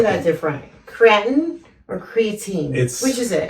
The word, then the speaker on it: creatinine: Some people say creatine. Creatine, okay. That's what I know it as. But my doctor and I say creatinine. Oh, okay. Creatinine. Well, he's a doctor, so I guess that's the right way to say it.